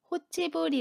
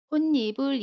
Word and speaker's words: 홑이불: 로 발음 하지 않아요 예를 들어 혼 니브 를 보면 홑 이라는 단어와 이불 이라는 단어가 결합해서 만들어진 합성어 예요 이때 받침 p 흙과 고음이 가 맛나죠 그래도 호 체벌이 라고 발음하지 않습니다 홑이불 일하고 받은 해요 됐습니다 우리 그러면 예문